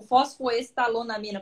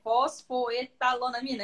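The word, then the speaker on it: fosfoetanolamina: O fosfoestalonamina, pronunciei certo? Fosfoetalonamina, é isso, né? Isso, certinho. Exatamente.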